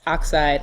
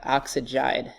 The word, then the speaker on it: oxide: For example, it's oxide and not oxygide. That doesn't make any sense.